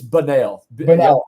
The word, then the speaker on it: Bunnell: do you say it it's banal all right yeah so it's kind of like different kind of emphasis all right so it's